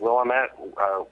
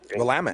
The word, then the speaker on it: Willamette: I think I've got Portland, Oregon, or I always forget how to pronounce it. Willamette. Willamette.